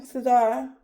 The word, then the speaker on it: Cesar: But who had calmed me down, I had talked to Caesar. You know our friend Caesar? Or how you say his name? Cesar.